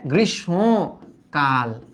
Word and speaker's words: গ্রীষ্মকাল: এবার একটু দেখতো গ্রীষ্মকাল আমরা অনেকে বলি গ্রীষ্মকাল বাট এটা কিন্তু গ্রীষ্মকাল গ্রিস এই যে গ্রীষ সো সো হ্যাঁ গ্রীষ সম কাল কাল এখন বলতে পারো